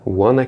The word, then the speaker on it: wanna: Na parte de pronúncia, conexões e reduções, quando ele fala wanna keep them away, wanna é a redução de want to, e aqui você percebe que ele nem utiliza o pronome, né?